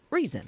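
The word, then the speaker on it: Reezon: is reason but it's r-e-e-z-o-n but it is pronounced just like reason for some reason yeah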